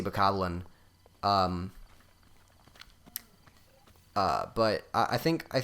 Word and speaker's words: Bokoblin: just because i've heard a lot of people pronounce it bukoblin and i i don't know why i to me it's pretty obviously bokoblin um but i think